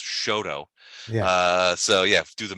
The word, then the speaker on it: Chouteau: Louis where it's like, Chouteau is pronounced Shoto.